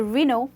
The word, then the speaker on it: Renault: The L and T is absolutely silent. You do not pronounce L and T. You only pronounce no. So Reno for you.